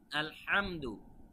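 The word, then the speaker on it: الحمد: জন্য খেয়াল রাখতে হবে উচ্চারণটা আলহামদু আলহামদু নয় আলহামদু তারপরে লিল্লাহি এখানে কিন্তু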